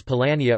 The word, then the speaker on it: Polania: Some Jewish historians have recounted that the word Poland is pronounced as Polania or Polin in Hebrew, and is transliterated into Hebrew.